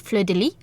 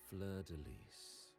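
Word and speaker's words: fleur-de-lis: Technically, fun fact, in French it would just be pronounced Fleur de Lis, because S isn't usually pronounced in French. Neither is H. Fleur de Lis.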